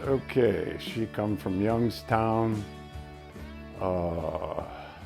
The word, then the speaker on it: Slaggy: Okay, she come from Youngstown, Salagi, or as they pronounce it now, Slaggy, S-L-A-G-G-Y.